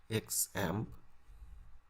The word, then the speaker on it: XAMPP: xampp what is xampp someone pronounce it xm i prefer to pronounce exam xampp stands for cross